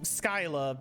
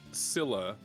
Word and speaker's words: Scylla: Yeah, it's misspelled with a K instead. Which in makes Greek me go mythology. Skyla because I've seen Skyla so many and times. you think Skylar, right? Yeah. Skylar. Exactly. But Scylla, or Scylla, is a legendary monster who lives